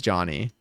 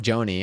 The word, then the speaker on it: Jony: And But yeah, again for clarity, I say my name is Johnny. It's like J O N Y. It's it's a nickname anyway. It's all made up. Nothing matters. Um but I but when someone says like Joanie, I'm like ah okay.